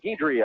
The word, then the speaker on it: Guidry: Everyone usually emphasizes that D, Guidry. I guess it's Guidry with the G as if it was G-I.